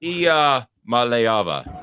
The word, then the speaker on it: Iamaleava: But Iamaleava.